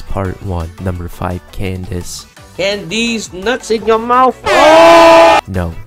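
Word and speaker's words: Candace: nuts in your mouth no not Kake or whatever the you El literate crack gets caller if it was pronounced kandake d be a K in her name learn English number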